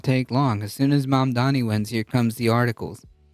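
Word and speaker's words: Mamdani: congratulations to Zoron Mandami. He literally doesn't know how to say. He still doesn't know how to say his name. It's mom Donnie. Mom Donnie. Mom Donnie. It's not that hard.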